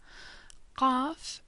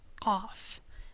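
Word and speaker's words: ق: Qaf is similar to Q, but pronounced further down in the throat. Qaf, like a little clicking sound almost.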